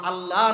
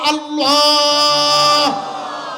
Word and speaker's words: আল্লাহ: এই জন্য আল্লাহ নয় আল্লাহ নয়, একটু মোটা করে বলুন তো আল্লাহ। আর একটু জবান দিয়ে বলুন আল্লাহ। শান্তি আছে না? আল্লাহ করে পড়লে কিন্তু শান্তি পাওয়া যায়। তার মানে সহি উচ্চারণ হয়েছে।